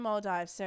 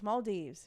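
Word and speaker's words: Maldives: So Nick at the moment is in Mold Dive. So or Maldes. I know one of you corrected me yesterday. It's Maldes for anyone any of my Aussies out there who pronounce it mold dives.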